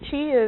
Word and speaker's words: qi: It's something called chi, and chi is pronounced like CHI, but it's spelled QI.